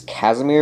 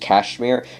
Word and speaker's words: Casimir: His name is speaking of his name, like technically it's Casimir, but it's pronounced Kashmir.